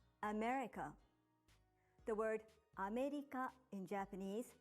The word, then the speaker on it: America: For example, when you say America in English, you put stress on me and say it for longer than the other parts, America.